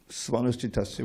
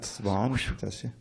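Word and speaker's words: स्वनुष्ठितस्य: So that third line begins with the word Svanushchitasya, which you pronounce correctly. Not Svanushchitasya.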